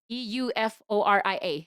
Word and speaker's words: Euphoria: It's like Euforia.